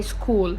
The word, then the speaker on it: school: Other word like this is school. We don't say stool, right? We say school.